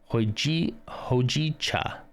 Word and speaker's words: Hojicha: You pronounce both the J and the Cha. Hojicha. Hojicha? Kind of like that.